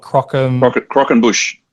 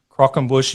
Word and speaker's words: croquembouche: You've done a few things, and please correct my pronunciation because I can't pronounce half of these, but is it the what's it called? Croquembouche. Croquembouche.